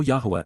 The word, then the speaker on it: Yahowah: To know Yahwa is to respect him. To understand Yahwa is to rever him. Yahwa. Yahwa. The proper pronunciation of the name of Eloha. God as directed in his Torah teaching God Elohim of the